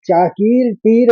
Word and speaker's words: चाकीर्ति: और चाकीर तीर में रौ का विसर्ग है, तो इसका उच्चारण इस तरह से होगा। संभावितस्य चाकीर्ति, रेफ भी लिया हमने, कीर कहा फिर तिर कहा। संभावितस्य चाकीर्ति।